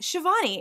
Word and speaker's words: Shivani: Shivani is the proper pronunciation for your name, right?